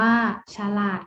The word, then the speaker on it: ฉลาด: Siam อ่าน ว่า สยาม ฉลาด อ่าน ว่า ฉลาด ค่ะ ต่อ มา นะ